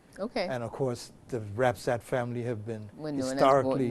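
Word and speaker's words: Rapsot: debate was a Jasper Rapsat. It's spelled in the document R-A-P-S-O-T, but we know that name as Rapsat from Nottingham, from out of that end of the island.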